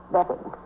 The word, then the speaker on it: Bevan: I spell it B-E-A-V-A-N, but I pronounce it Bevan.